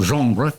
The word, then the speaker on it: genre: Now, when do we begin this genre? If you like the term genre, you're French, aren't you? Yeah. I'm saying it right? Genre. Genre. Oui.